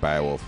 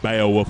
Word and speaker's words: Beowulf: I said I run I think it's bad wolf Beowulf I was totally wrong what could be bowel I might have been saying it wrong all weekend actually Beowulf like Scott Baio I think so yeah